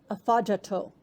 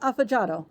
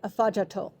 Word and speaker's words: Afadjato: Not far from Wheelie Falls is Ghana's tallest mountain, Mount Afajato. I'm working on that one. It might be Afajato. I know it's not Afajado. That's wrong. So I'm going to say Afajato, I hope.